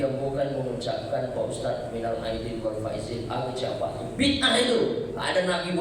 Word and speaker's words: minal aidin wal faizin: Tapi bacanya yang benar, karena ada pula sebagian bapak ibu saya dengar bacanya minal faizin wal faizin. Apa itu? Yang betul lah bacanya, karena itu doa minal a'idin wal faizin.